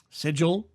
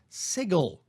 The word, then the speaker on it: sigil: corn correct my pronunciation different parts of the United States States actually do pronounce that word differently while it is technically